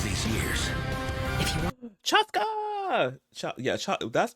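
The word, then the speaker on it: Chasca: years if you want chasa cha yeah CH that's wait is that how you say her name chasa wait I'll be back y'all see yes I got confirmation y'all yes it's shasa yeah also too there's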